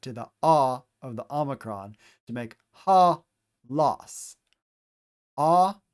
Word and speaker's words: omicron: Omicron literally means small o, omicron, so we pronounce it with a short o sound, as in ah.